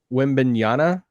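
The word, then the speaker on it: Wembanyama: how does um and if i say this name wrong correct me win banana oh yeah yeah no you got it how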